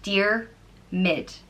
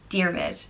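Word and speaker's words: Diarmuid: m''d and it means without enemy and it's pronounced dear MIT dear MIT endearment is a well known old name amongst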